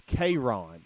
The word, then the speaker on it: Kron: tripa for doing that it's KRON like K and then Ron like Ron Burg it's KRON KRON that's how you pronounce it he's tackled at